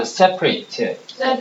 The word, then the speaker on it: separate: 나오는데 첫 번째 단어다 separate separate 저거 발음할 때 분리된이라는 형용사 할 땐 seate 선생님이 여러 번 얘기했죠로 시작하는 단어가 형용사 할 때는 it 이렇게 발음하죠 it 이렇게 발음해요 이렇게 다같이 보자 separate 형용사 할 때는 근데 분리시키다 동사할 때는에 이렇게 발음하죠 다 separate 발음이 틀려요 그니까 본문에서는 형용사로 쓰였어요